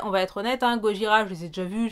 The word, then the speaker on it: Gojira: Et je vais pas prononcer Gojira à la japonaise. C'est Gojira, on prononce comme une bonne française, Séraph.